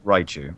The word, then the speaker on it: Raichu: How the hell do you pronounce Raichu? It's Raichu. It's Raichu, thank you.